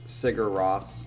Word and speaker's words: Sigur Rós: He says, I don't actually listen to much Sigur Rós, because that's how you say it.